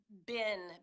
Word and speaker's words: been: We say bin, BIN. So BEEN, we're going to pronounce not like that, like I've just written, but we're going to pronounce it BIN, bin, always, always. BIN.